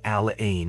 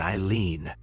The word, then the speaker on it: Aline: At the funeral of my great aunt Aline, pronounced Al Ain, apparently nobody thought to tell the guy delivering the service how to, you know, actually pronounce her name. He kept saying it Eileen.